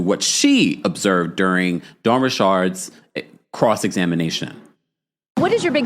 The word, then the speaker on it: Richard: As someone that has spoken and interviewed Dawn Rashard multiple times, that is the way you pronounce her last name.